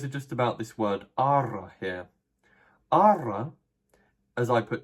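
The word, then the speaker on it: ἆρα: And in actual Greek, there would be a circumflex above this first alpha, so that's why it's a long alpha, and you pronounce the word as ara.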